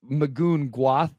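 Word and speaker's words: Magoon Gwath: haven't like I just magon Guth I think is probably how you say it at San Diego State it is yeah yeah that's right um yeah not a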